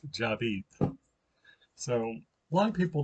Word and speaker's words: Javid: um that's like david with the j david jabed pronounced job eat so a lot of people don't pronounce it right they pronounce it javid that's fine with me because we're in texas